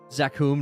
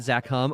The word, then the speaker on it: Zakum: Zakum, not zakham.